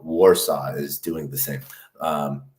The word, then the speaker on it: Warsaw: hubing community and how Warsaw is doing the same um I know I guess it's pronounced like warshaw um but uh you